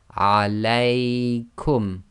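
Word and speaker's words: عليكم: So the lay sound is a diphthong.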